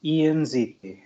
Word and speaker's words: Ianziti: My last name is pronounced Ianziti. It's Italian. You can say it like the letters E, N, Z, and T in quick succession.